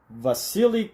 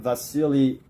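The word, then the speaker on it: Wassily: let's read up on vasili I'm guessing it's called You're pronouncing a w like a V but was Sil Kandinsky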